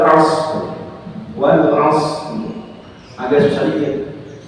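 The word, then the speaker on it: عصر: Karena shad bukan huruf qalqalah. Jadi bacanya wal asr.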